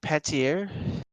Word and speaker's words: Panettiere: Hayden Patier? Yeah, I think I pronounced her name Yeah.